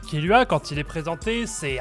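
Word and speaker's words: Killua: Et puis son prénom, c'est littéralement le mot tuer en anglais prononcé à la japonaise. Du coup, ça fait Kiru. Et après on rajoute un A derrière pour faire genre c'est un prénom quoi.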